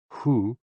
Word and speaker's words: HOO: HOO, pronounced like hu, which is associated with the spleen, and XI, pronounced like shi, which connects the whole body.